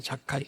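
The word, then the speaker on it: זכאי: 여러분 사계의 이름이 히브리어에서 나온 뭐 유대인들은 다 그렇죠.이 이 이름인데 자카이라는 뜻이에요. 자카이. 그니까 뭐 언어 말로 언어 그 뭐 발음은 자카이.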